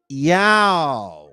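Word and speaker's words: IAO: a o so now how do you say that now us that speak Spanish we know how to say that ya okay that's how you say it that is how you say that word ya almost like what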